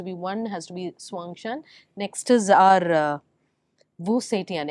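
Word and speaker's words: Xuanzang: characters have to be one has to be Swang Shan next is our uh vuan Empress vuan perfectly pronounced with both they the first interviewer that's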